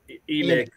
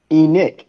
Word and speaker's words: Enoch: you're not you knock oh it is enoch my bad e nick huh god dang man i'm right about something i was going from the biblical sense i guess or maybe i've been pronouncing that wrong too how you bet yes eileen we're all in shock right now howard was actually correct he was correct on the pronunciation suck another one eileen